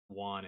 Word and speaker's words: yuan: The 10,000 employees, or I don't know what won is. Y-U-A-N. I mean the Y is silent, just one.